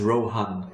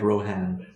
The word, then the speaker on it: Rohan: In the speech you will also notice how Christopher Lee says Rohan very clearly, not Rohan, because he knows how to pronounce Elvish correctly.